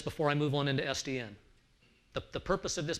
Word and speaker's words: SDN: supposed to do so sdn is not an acronym otherwise we'd pronounce it sudden it is an initialism so it's sdn okay so the initialism